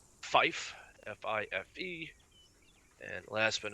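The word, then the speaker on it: five: 5 will be said like fife, F-I-F-E. And last but not least, sure most of y'all can figure this out. 9 will be said like niner. So tree, fife, and 9.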